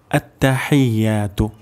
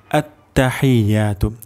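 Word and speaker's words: التحيات: প্রথম শব্দটি হল আত্তাহিয়াতু। আততাহিয়াতু।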